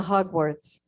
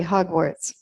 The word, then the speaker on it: Hogwarts: Granger from from the Hogwarts a Hogwart is what okay oh that's not embarrassing you're welcome I said it wrong how can I say it okay Hogwarts Hermione Hermione from the